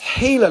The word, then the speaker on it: Gila: dang it this is gala light pronounced healer light like gila monster from gila arizona's the type locality type